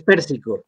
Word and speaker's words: Persico: Persico, que creo que nos sorprendió a todas, o Pérsico como lo he escuchado, todavía no sé cómo se pronuncia. Sí, es Pérsico, Es Pérsico, Pérsico, ¿verdad?